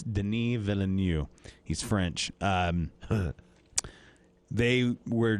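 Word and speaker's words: Denis Villeneuve: um and what and um villanu the director Deni villanu I want it noted that I pronounced that correctly uh most people think it's like Dennis vill because it looks like that but it's not it's Deni villanu he's French um they were he was joined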